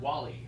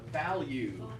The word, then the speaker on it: value: I'm hearing Wally. Okay, value.